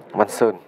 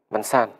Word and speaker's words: Văn San: Một đồ đánh rất tự tin đến từ Văn Sơn. Văn San. Một cầu thủ nam tên là San. Tôi cứ đọc là Sơn.